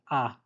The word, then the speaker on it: ha: So first we've got this word ah, H isn't pronounced.